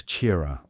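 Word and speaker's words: Qi'ra: Her name was Chira, pronounced like Kira.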